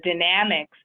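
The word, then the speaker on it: Dynamex: in April of 2018 with the decision properly pronounced as the dynamics the Superior Court of Los Angeles right and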